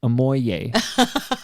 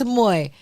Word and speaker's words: Ammoye: When I was promoting this episode, I may have accidentally called you aoy. Do you get that a lot? I do get that a lot. Aoy. Okay. Sure. But no, it's a moy.